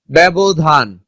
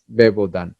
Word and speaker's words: ব্যবধান: তো এরকম আছে ন্যস্ত, ব্যবধান, ব্যক্ত, ব্যক্ত, ব্যথা। এই পরে অ আধনিযুক্ত কিংবা হসন্ত ব্যঞ্জন থাকলে শব্দের শুরুতে জ ফলার উচ্চারণ এ হয়, ন্যস্ত। এই যে দেখো উচ্চারণ একার হয়েছে, বেশ, ব্যবধান, ব্যক্ত, ব্যথা, এখানে একটা আকার বাদ পড়েছে, ব্যক্ত।